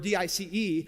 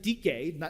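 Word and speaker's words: δίκη: Latin word DIC we get the Greek word d-i-c-e you pronounce it DK not Dice and DK and Greek means righteousness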